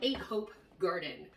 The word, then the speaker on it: Ahopegarden: and it's called the Ahopegarden. It's pronounced the way that it looks.